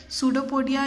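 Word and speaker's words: pseudopodia: हम क्या बोलते हैं, सूडोपोडिया या फॉल्स फीट बोलेंगे। और देखिए सूडोपोडिया प्लूरल फॉर्म है, सिंगुलर फॉर्म हम उसको बोलेंगे सूडोपोडियम। पी जो है इसमें साइलेंट है।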